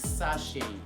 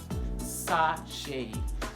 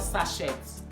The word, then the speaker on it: sachet: to my views so the correct way to pronounce this is sasha sasha sashay so not sachets no c is voiceless